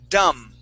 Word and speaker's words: dumb: in the chat box the word is dumb this the B is silent oh dumb yes okay